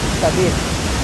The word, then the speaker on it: কাদির: মানুষকে কাদির বলা যায় না, মানুষের নাম কাদের আছে না, তো শুদ্ধ উচ্চারণ হলো আরবিতে কাদির।